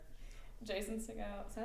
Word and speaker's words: Segel: Jason Segel. Is that how you pronounce his last name? We don't know. Okay, he's the mother. Cosmo aggressively said, "It's Seagal."